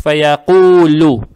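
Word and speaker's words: فَيَقُولُ: два раза, фаякулу, фаякулу, здесь буква лам, она произносится мягко, то есть эту дамма, она приобретает оттенок ю, и дамму не тянем, то есть фаякулу.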